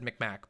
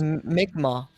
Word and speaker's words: Mi'kmaq: Like I mean, I probably would pronounce the name like usually would have said Micmac, but like I know that's probably not the correct pronunciation. But No, yeah, that was Mi'kmaq.